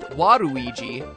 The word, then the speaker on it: Waluigi: Waluigi's name works even better in Japan, where his name is pronounced Waruigi. This Warui concept was potentially going to go even farther.